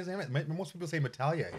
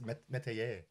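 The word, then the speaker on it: Métailler: Most people don't say his name right. Most people say Metalier. It's Metayer. Metayer.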